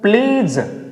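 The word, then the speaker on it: pledge: कैसे पढ़ेंगे, ये डी को हम प्रोनाउंसिएट नहीं करेंगे तो क्या बोलेंगे? प्लीज, प्लीज। डी को छोड़ देंगे बिल्कुल, क्या बोलेंगे इसको? प्लीज।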